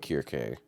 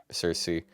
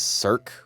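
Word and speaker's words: Circe: Hers doesn't have like she doesn't have a set in stone pronunciation. Some people, like the Japanese, say Kirke, but there's a lot of people that say Cersei. I know someone that says Cirque, which is cursed as fuck.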